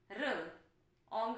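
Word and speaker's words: wrong: H and hang, g and gang, r and rang, b and bang, r ang rang, r ong rong. W is silent here, so r is producing sound r.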